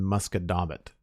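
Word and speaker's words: Musquodoboit: granite ridge pike in nova scotia it's in muskedomit i will have to spell that for you uh it's m u s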